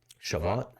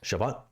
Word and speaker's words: Shabbat: Shabbat. Shabbat, which is marked with a reading of the Torah.